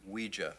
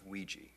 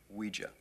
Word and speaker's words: Ouija: It's pronounced Ouija, not Ouija. It comes from the French and German words for yes, oui and ja, Ouija.